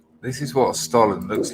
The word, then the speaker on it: Stollen: Oh, look, John Francis says pronounced Stollen, which comes as no surprise whatsoever. Stollen.